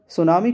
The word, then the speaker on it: सुनामी: तो देखिए दोस्तों, सुनामी शब्द जापानी भाषा का शब्द है और यहाँ पर सुनामी को कुछ इस तरह लिखा जाता है जिसमें टी साइलेंट होता है बोलते समय।